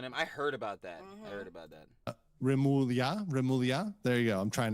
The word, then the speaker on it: Remulla: Remulla.